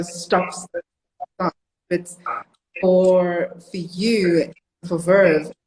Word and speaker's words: Veuve: So, Veuve Clicquot. Veuve Clicquot. Veuve Clicquot. Correct. No, you've managed the pronunciation 100%.